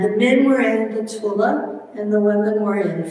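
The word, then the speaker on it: Thule: the men were in the Tula Society and yes that's how you say it they actually they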